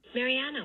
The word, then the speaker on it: Mariana: Mariana won it. Remember, the stressed syllable here is this third syllable in the name Mariana, or the penultimate syllable.